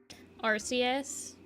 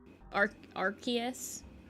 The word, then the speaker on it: Arceus: Like, Pokemon names that they just pronounce completely wrong. Out of pure spite at this point, probably. Arceus. Arceus.